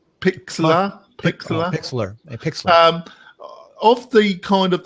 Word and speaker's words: Pixlr: So another one we're going to look at is I don't know how to pronounce it. It's Pixlr. Pick money. I pick money. Pixlr.